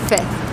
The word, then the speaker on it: fifth: So, the easier way to pronounce fifth is fifth. Yeah, just skipping that second F, the third letter.